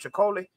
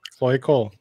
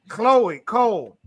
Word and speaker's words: Chloe Cole: Chicole? Chloe? Chloe? Oh. Chloe Cole.